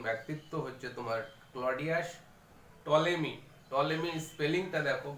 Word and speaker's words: Ptolemy: টলেমি স্পেলিংটা দেখো, বানানটা টলেমি বানান, পি দিয়ে স্টার্ট হচ্ছে, PTOLEMY। P is hidden, P is silent।